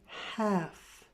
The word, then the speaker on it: half: half pound of chicken there's no l sound in the word half I'd like a half